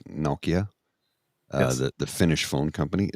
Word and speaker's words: Nokia: Okay, so in North America we would say What's Nokia, Kia? but it's actually pronounced Nokia, Yes.